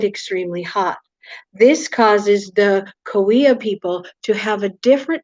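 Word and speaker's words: Cahuilla: take some notes on the koea tribe it doesn't look like it sounds okay but it definitely that's the way that it is spelled the koea tribe is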